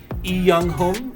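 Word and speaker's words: 이영흠: Okay, he's got a, well, I think that would be pronounced as Lee Young-hum because I know they don't really say the L or the L in Lee in Korean names.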